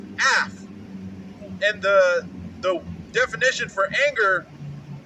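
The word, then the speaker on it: אַף: And so the word in that was anger, and that is Strong's H639, and that has the pronunciation as af.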